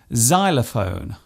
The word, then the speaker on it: xylophone: not a silent letter it often starts a word by being pronounced as Z such as in xylophone and xenophobia this particular use stems